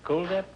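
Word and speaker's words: Kuldip: way you pronounce it cool dip yes it is uh like the word cool yeah well I had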